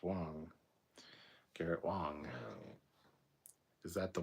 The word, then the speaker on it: Wang: Matt Borman, Garrett Wang is pronounced Wong.